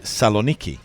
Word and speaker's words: Thessaloniki: And in Hebrew, I think they say Saloniki. Right. And we will hear, I'm sure, most of the time that we are over there, something like Thessaloniki.